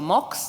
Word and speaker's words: Mx: So they want to be known as they them and uh with the with the prefix MX which I think is pronounced mix or Mox depending on your choice.